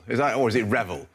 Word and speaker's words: REvil: Is that, or is it Revel? I think it's pronounced REvil.